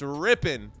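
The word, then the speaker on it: Rypien: first down run ripping I heard him say it it's ripping hate the way that it's spelled r y p i n ripping Brett rippen so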